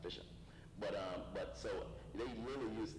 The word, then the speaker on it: phishing: It's spelled with a P, but it's pronounced phishing.